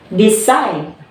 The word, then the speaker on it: decide: So here's our example. Decide. Okay, very good. So we stress here from side. Decide.